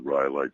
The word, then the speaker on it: Rhyolite: I've been all over Death Valley, including on the Rhyolite side in Nevada, and I pronounced it correctly, didn't I?